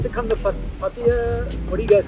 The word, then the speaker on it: Pattaya: like to come to Pattaya. What do you guys call it? Pattaya. Pattaya. See, everybody gets mad at the way I pronounce it. I'll pronounce it the American way for this video, Pattaya.